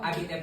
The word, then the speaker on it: habite: Tama po, habite po.